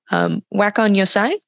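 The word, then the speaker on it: 和魂洋才: So in your essay, you mentioned, forgive me if I pronounce this wrong, wakon yosai?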